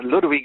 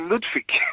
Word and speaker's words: Ludwig: that german accent yeah in the german accent ludwig sounds like it's um the w is pronounced like a like uh like a v and um that was